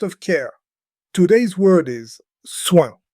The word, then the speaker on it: soin: Today's word is soin. Say it with me, soin. Listen for the nasal sound at the end.